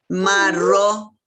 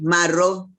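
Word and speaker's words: marrõ: Marro. Sin la N. Marro.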